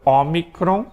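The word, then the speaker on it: όμικρον: pronunciar o também a briga que alguns vão pronunciar o tá Mas é o ómicron depois nós temos o pi tá tá o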